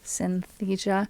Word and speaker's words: Synthesia: crossed wires thing um I had a hard time pronouncing the name of this the piano visualization software at first Synthesia because it was four synth type pianos right um but my